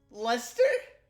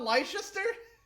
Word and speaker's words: Leicester: in all of leicester lester not leicester enemy activity detected captain